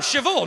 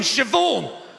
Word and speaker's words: Siobhan: are you talking about there's no v in siobhan where does the h go then it goes after the b obviously are you talking about bh is pronounced v no it's not love